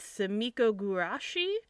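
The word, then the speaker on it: Sumikko Gurashi: It's really hard to pronounce. It is Japanese. It's Sumiko Gurashi. So that's like the specific characters.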